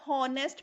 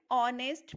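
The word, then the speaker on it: honest: हम ये नहीं बोलते ना हॉनेस्ट person, हॉनेस्ट is wrong word. An ऑनेस्ट person.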